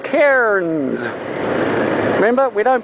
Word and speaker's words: Cairns: to do with ourselves but anyway it's not cairns it's cairns you know the those um aluminium containers that